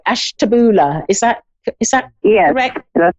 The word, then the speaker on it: Ashtabula: hello um i i don't know if i pronounced that right ash taboola is that is that yeah correct that's correct